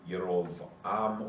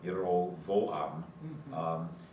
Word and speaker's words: Jeroboam: There are no J's in Hebrew, so it would be Yerovam or Yerovoam.